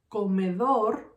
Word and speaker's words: comedor: For example, the word comedor has 3 syllables. Comedor. Dor is gonna be my first syllable. Me is gonna be my second syllable, and co is gonna be my third syllable. In this word, comedor, my strongest syllable is dor.